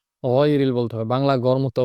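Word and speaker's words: غَيْرِ: এই গইনটা খুব গভীর থেকে, গইনের মাখরাজ আমরা জানি, হলকের শেষ থেকে গইন খ, ওখান থেকে ডিপলি খুব গভীরভাবে উচ্চারণটা হবে গয়রিল, গয়রিল। এখানে গাইরিল অথবা গাইরিল বললে হবে না, গয়রিল বলতে হবে, বাংলা গরমুক্ত উচ্চারণ হবে না, গয়রিল।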